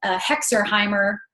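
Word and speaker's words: Herxheimer: can look it up it's called a hexer heimer reaction on it that's how you pronounce it but there's all the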